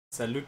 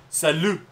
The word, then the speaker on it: salut: Ich hab fucking Französisch unterrichtet und dann ist dieses fucking Salut. Heißt Hallo und Tschüss. Und da ist ein T zum Schluss. Aber es wird nicht ausgesprochen.